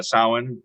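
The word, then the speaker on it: Samhain: So, you were saying uh sin, which is which is spelled Sam Hayne.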